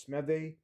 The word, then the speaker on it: Smythe: It's It's not Smith, it's Smythe. Durham Smythe, tight end.